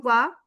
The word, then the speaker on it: vas: Tu vas, a s is also the a sound because we don't pronounce the s and p a is having the sound already for a.